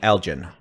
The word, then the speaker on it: Elgin: Heavy rain, nickel to quarter size hail, hard G on the Elgin.